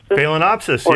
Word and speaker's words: Phalaenopsis: Have no idea how to pronounce that. Phalaenopsis? Phalaenopsis, yeah.